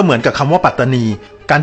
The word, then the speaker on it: ปัตตานี: เสียง สั้น ดัง นั้น คำ นี้ ตาม หลัก ภาษา ที่ ถูก ต้อง จึง ต้อง ออก เสียง ว่า ปัตตานี ไม่ ใช่ ปลา ตานี แล้ว การ ถอด เสียง